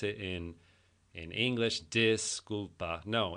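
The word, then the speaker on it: disculpa: Disulpa. No, it's D. The I's in Spanish are a really long e sound. So it's disulpa.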